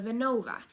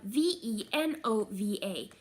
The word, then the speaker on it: Venova: It's spelled V-E-N-O-V-A, just like it's pronounced.